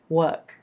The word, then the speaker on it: work: Or you may neutralize that sound within the word and end up with something a lot closer to a British pronunciation, sounding like work, work.